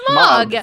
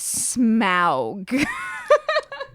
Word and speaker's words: Smaug: It's Smog. Smog. Okay. Yeah. I've been told that it was Smaug. I have heard Smaug a couple times.